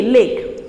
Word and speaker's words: lek: Pronunciation आप बहुत अच्छे से ध्यान करेंगे, LEK, लेक।